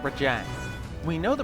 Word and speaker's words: Rajang: It's pronounced Rajang, not Rajang.